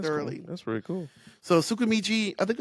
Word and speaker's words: Tsukimichi: So Tsukimichi, I think it's Tsukimichi. Yeah, Tsukimichi. I know it starts with a T, and the T is silent.